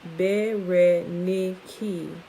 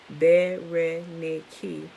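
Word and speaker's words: Βερενίκη: Of interest is that Bernice's name in Greek is Bernice, pronounced Bereniki, and it actually sounds it out like that with the dashes and stuff. Bereniki.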